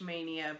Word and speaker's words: Maynia: a group on Facebook stitch mania but it's spelled ma y ni a and basically it started